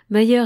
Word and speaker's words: Mayer: Les récents essais scientifiques de je pense que c'est madame mais c'est mm on prononce Mayer et sté hunt Mayer et Hunt nous permettent d'entrevoir quelques fragments de la vérité.